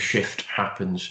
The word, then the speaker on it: Shift Happens: of years ago called Shift Happens. Notice I pronounced the F there.